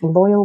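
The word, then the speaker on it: Loial: this must be like loyal yes you're absolutely right that is its name like loyal with a y except with an eye that's exactly who he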